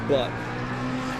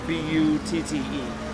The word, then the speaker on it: Butte: the section known as Butt. It has been Wait, is that what they named the section? Yeah, it's Butt like a mountain. B-U-T-T-E. Oh, okay, yes. Butte? Oh, Butte. Okay, I apologize.